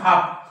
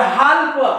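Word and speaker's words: half: नाही काप काप या हाल्प हाल्प तिकीट द्या हाल्प तिकीट नाही हा काप हाफ काप हाफ येतंय लक्षात पण आज पर्यंत जर तुम्ही याला काल्प म्हणत असाल तर याला काप म्हणा याला हा म्हणत असाल तर हाफ म्हणा राईट त्याच्यानंतर बघा के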